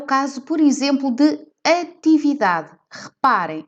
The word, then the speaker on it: atividade: caso por exemplo de atividade par em termos de pronúncia nós não pronunciamos estes e ninguém diz actividad e por esse motivo este se é eliminado e vamos então ao